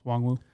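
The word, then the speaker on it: Nwangwu: pronounce the N. It's Wongwu.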